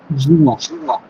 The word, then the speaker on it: juin: At first আমাকে জুন এর প্রোনাউন্সিয়েশনটা একবার একটু বলা যাবে? জুন? জুন? জি। জুয়া।